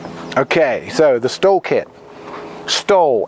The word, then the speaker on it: STOL: Stol, S-T-O-L. People think it's S-T-O-H-L sometimes because it's like a German word with a silent H, but it isn't. This is stol, is a short takeoff landing.